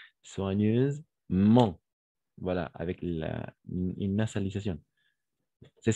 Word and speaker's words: soigneusement: La combinaison des voyelles O et I, on va prononcer comme un wa. D'accord? Wa. La combinaison de consonnes G avec N, on va prononcer comme un N. D'accord? Toujours. Et donc, soigneuse, avec le Z, parce que le S se trouve entre deux voyelles.